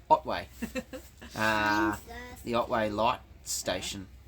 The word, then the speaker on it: Otway: I'm an idiot embarrassing I've been saying all the way but it's Otway uh the Otway light